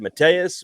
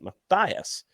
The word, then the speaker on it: Matthias: I always said Mateus, but Alan gave me a little bit of a lecture per Scott Forbes and said that this name is evidently pronounced Matthias instead of Mateus there.